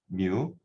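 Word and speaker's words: μ: 뮤 그죠? 마치 그 포켓몬스터의 그 뮤랑 이제 발음이 똑같습니다.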